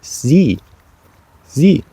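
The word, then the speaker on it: sie: and the E and you might wonder why is it that you can see the e but you can't hear it when you pronounce it you just say c Z like C in Spanish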